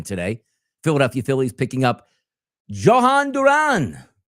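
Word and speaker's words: Jhoan Duran: Philadelphia Phillies picking up Johan Duran.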